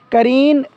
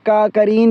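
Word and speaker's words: Karen: करीन national union के नाम से एक यूनियन है म्यांमार में, एक एथनिक माइनॉरिटी है करीन के ही नाम से, या करीन या कैरन, इसकी प्रोनाउंसिएशन वेरी कर सकती है।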